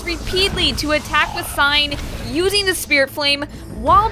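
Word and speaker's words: Sein: our first objective from scene not c it's sign i'm sorry i always pronounced it scene i didn't know it was an actual word until recently it's it's a german word it's pronounced sign but we have our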